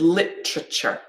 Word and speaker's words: literature: other example here with literature okay so if i say this again literature we've got three syllables yeah the main stress is on the first okay sure and there we've got our schwas literature yeah take a minute